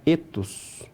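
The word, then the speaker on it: ἔθος: E aqui embaixo era o E breve, o épsilon, a pronúncia era etos.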